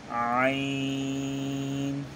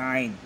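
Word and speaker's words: عين: হবে, ক, জ, জ, আইন, এটা আপনার হার মতন, হলকের মধ্যখান হইতে আপনার হা আর আইন, এই দুটো হরফ উচ্চারণ হয়, মধ্যখান থেকে আপনি একটু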